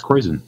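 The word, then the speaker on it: Kräusen: JD referred a time or two to high Krausen or high Kreuzen, however that's pronounced. That's Kreuzen.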